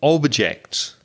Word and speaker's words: object: two words object and objects now i hope by now you're recognizing the noun the stress on the first syllable object for example reza do